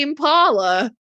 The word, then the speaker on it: impala: I was thinking, have I forgotten how to say Impala? Because I put the emphasis on the L, and have I been saying it wrong all this time?